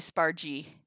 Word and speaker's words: spargi: I guess it should be Spargi. Because a GI makes it a soft G and not a hard G.